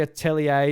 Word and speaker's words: Atelier: Apparently Atelier is a French word. The ER is pronounced A.